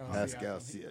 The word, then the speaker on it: Pascal Siakam: They got, I can never pronounce his name, Pacum. Greg is the Pascal Siakam? Yeah, Pascal Siakam.